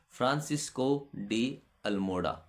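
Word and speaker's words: Francisco de Almeida: में आने वाले थे फ्रांसिस्को डी अल्मोडा। फ्रांसिस्को डी अल्मेडा कहते हैं इनको।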